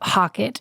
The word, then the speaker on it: HOCATT: Well, real quick, if you're looking for the ozone sauna, I would look up Hockett is the brand. How do you spell that? HOCATT is Hockett.